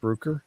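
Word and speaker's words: Bruker: here from um rooker i think it's brooker pronounced brooker looks like it is uh and then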